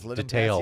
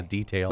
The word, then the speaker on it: detail: Says detail. It's a detail.